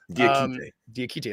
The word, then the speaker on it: Diakite: Diakite, I said it right. That's how Keith Parrish says it anyway.